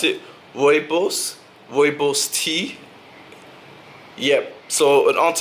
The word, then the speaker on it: Rooibos: I really only purchased one thing, and that was this Twinings Pure, how do you pronounce it? Rooibos tea.